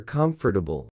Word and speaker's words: comfortable: Most learners say comfortabile for syllables, but native speakers actually say comfortabile, just 3 syllables. The middle is swallowed. The or almost disappears.